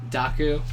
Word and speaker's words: Dokku: a Docker for you daku how do you spell that d o k kuu it's like Heroku oh like the KU on the end it's like Docker and Heroku together yeah smart all right